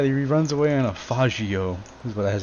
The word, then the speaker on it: Faggio: Yeah, he runs away on a faggio, is how you should pronounce it.